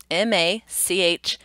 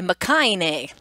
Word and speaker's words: machine: When we say the word machine, we would replace that CH in the spelling maybe with an SH.